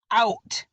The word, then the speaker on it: out: to t out now the underlined o and u make up the tricky part of their word these letters are pronounced as ow ow they work together to